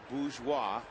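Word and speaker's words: Bourgeois: So Jason Bgeois the R is silent with Morales Georgia late.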